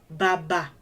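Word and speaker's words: bàbà: These are examples of words that only have the do tones on them. On each syllable of those words. Do. And then that's the low one. So if a syllable in a word has the do on it, you kind of have to go low. You have to go low when you say that syllable of that word.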